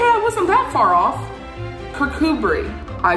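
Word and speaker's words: Kirkcudbright: kirk kirk cudbright kakubri oh god damn it kokubri kurkubri okay i wasn't that far off kirkubri i sound out so much like percood bright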